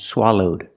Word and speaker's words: swallowed: things can happen and the verbs swallow in the past swallowed with a D sound swallowed link the sounds the